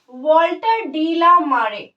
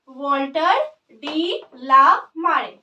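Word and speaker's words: Walter de la Mare: वॉल्टर डी ला मारे। क्या pronounce करेंगे? वॉल्टर डी ला मारे।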